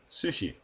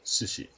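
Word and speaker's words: すし: The first one is sushi. The first character is pronounced su. Second character is pronounced shi. Therefore, sushi.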